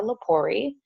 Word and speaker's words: Lepori: My name is Miss Lepori. Lepori rhymes with story, so you'll always remember how to say my name because it rhymes with story.